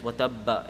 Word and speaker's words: وتب: It's watabba if you connect it. No, if you're stopping, you don't pronounce it. If you're continuing, then you say watabba. If you're watabbama, if you're connecting it. If you're stopping there, you don't pronounce that fatha.